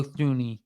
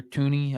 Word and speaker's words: Thuney: The biggest question mark with the Chiefs right now is Joe Thuney, or Tooney, I think is how you say it.